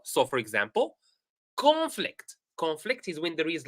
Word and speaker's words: conflict: Let us read them together, and try to put the I have emphasized here or I have highlighted the stressed syllable. So, for example, conflict.